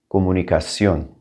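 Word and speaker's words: comunicación: it twice recommendation recommendation communication two m's stuck together i don't know why we're going to drop one of them comunicacion comunicacion your turn i'm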